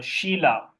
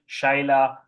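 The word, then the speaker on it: Shelah: the third was uh Sheila but the Hebrew way of pronouncing it because it was probably Shilah uh not Sheila because that sounds like a feminine name so the he the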